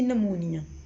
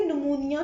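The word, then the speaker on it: pneumonia: इसको पढ़ते इतना है, पी से लिखते हैं, ठीक है, लेकिन पढ़ते हम इसको एन से हैं, ठीक है। एन से स्टार्ट करते हैं बट लिखते हम पी से। इसमें पी हमारे पास साइलेंट है, ठीक है।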